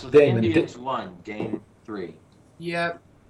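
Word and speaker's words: daemon: It's pronounced Damon. Activity monitor. It's Damon. Indians won game three. Yep. Okay. Yeah, it's pronounced Damon.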